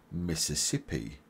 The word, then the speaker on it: Mississippi: Louisiana and Tennessee and you pronounce Mississippi like this Miss is sip e Mississippi subscribe for more videos